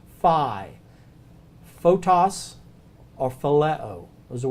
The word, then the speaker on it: phi: to hone in on phi this is a pH sound pH sound letter is Phi so it you make